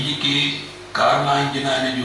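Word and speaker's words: Carnot: Topic है कार्नाट engine. लिखना थी कार्नाट, यानी कि प्रोनाउंस कार्ना है, कार्ना है इंजन।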